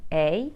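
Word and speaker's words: Anaïs: And finally, my name is spelled A-N-A-I-S with a tréma on the I. So I will say Anais.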